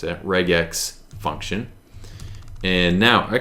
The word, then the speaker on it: regex: is we could have used the reject um regex really is how we pronounce it reg X function ction and now I could go ahead